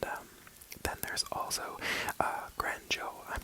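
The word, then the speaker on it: Granjo: I found that said Grand ho as in like the Spanish J how it turns into a h sound and um then there's also uh Grand Joe I'm not quite sure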